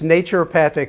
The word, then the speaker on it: naturopathic: but pathic medicine yeah it's naturopathic like nature and naturopathic medicine basically